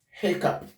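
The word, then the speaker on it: hiccough: This word is pronounced hiccup. Hiccup. Her. Cup. Hiccup. It is not going to be hiccup.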